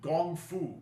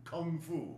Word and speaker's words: kung fu: It's the same gong as in gong fu. Kung fu, right? Kung fu is the Cantonese pronunciation. Gong Fu is the uh Mandarin pronunciation.